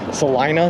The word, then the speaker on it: Salina: to talk to me, that it's pronounced Salina here, which is gross and I don't like it.